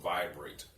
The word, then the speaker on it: Viberate: a spill by rate VI BER 80s is pronounced vibrate see most cryptocurrencies out